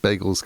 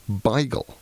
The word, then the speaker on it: bagel: So B-A-Y-G-L-E, just that's how this word that you're now reading is pronounced, which is quite amazing. My mother, who is 89, whenever the subject of bagels comes up, as it doesn't as often as